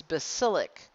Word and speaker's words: basilic: artery instead of brachial this is basilic it's spelled like basil like the herb you put in food bas il and then an IC at the end of it basilic here's the basilic vein and